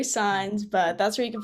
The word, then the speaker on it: Saenz: I know my last name sounds a little complicated. It's pronounced Saenz, but that's where you can find me on Instagram.